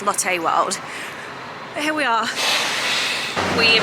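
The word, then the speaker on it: Lotte World: And I know I've been calling it Lotty World, but I think it's actually pronounced Latte World.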